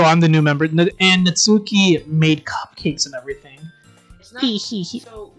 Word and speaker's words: Natsuki: the new member and natsuki made cupcakes and everything so here's the thing her name is not not natsuki it's natsuki that's how you say it um i'm taking